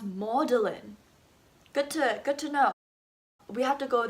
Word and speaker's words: Magdalene: So this sounds like Magdalene. No, it's pronounced Magdalene.